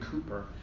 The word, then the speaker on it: Cowper: So he stole this from a poem called The Task by William Cowper, although it's spelled Cowper, 18th century poet.